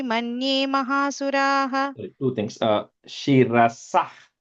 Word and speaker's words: शिरसः: Shirasah, ich sound, not shirasaha. First line. शिरसः. Shirasah, not saha, no a sound there.